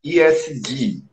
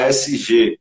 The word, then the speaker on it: ESG: Então, Kevin, ESG, a pronúncia é em inglês, mas em português a gente fala ASG, eu já explico o que é já.